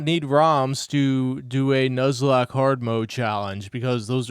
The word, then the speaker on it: Nuzlocke: It's pronounced Nuzlock as in the Pokemon Nuzle Leaf.